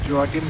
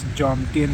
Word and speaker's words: Jomtien: Guys, one correction, I have been pronouncing 'Joatim', 'Joatim' for so much time in the videos, apparently, it's Jomtien beach.